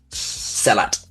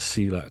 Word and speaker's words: Sehlat: I swear we've always pronounced it seat on this channel. Well you are wrong.